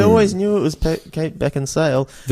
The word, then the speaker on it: Beckinsale: You think Beckensale, but it's just Beck and Sale. Disappointment. I have to say I always knew it was Kate Beck and Sale.